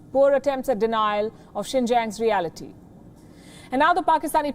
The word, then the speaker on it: Xinjiang: so we accept it did you notice the pronunciation he says sink yang that's what the uyghurs called the region before the communist party took control and gave it a chinese name xinjiang before the uyghurs were